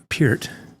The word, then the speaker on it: Peart: And so, and then, of course, the sad passing of Neil Peart. I said Peart for years, but I believe it's pronounced Peart.